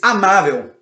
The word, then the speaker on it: amável: Nós temos amável. A palavra amável. Amável. Penúltima sílaba, ela é acentuada.